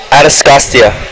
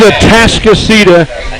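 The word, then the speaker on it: Atascocita: Atascostia. That's what I said, but it's wrong. It's a Tascasita, and Team Johnson wins 5-4.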